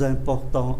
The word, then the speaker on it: importants: Và important, chúng ta để ý ký tự M phát âm là N, do bởi nó đứng trước ký tự P, les plus importants en France.